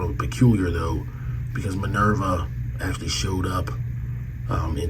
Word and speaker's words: Minerva: they got Minerva and they called her manilba Minerva Minerva I can't really pronounce it they don't have an R sound in Japanese so um but that's